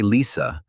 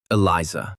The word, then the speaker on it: Eliza: Still with the same smile, the goblin asked not to say Lisa, but to pronounce Eliza.